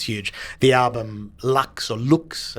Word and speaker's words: Lux: The album Lux or Looks, I think, as it's pronounced in its Latin reference.